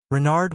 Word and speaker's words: Renard: is King Renard IV Renard with the accent On The Run what's run asked button